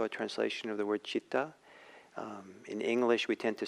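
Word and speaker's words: citta: So it's possible that he was doing a little word play, because the word for mind or state of mind is chitta, C-I-T-T-A.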